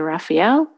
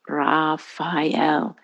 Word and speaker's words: Raphael: simply speaking his name you can say raphael or you can pronounce each syllable and each vowel sound ra file to really awaken that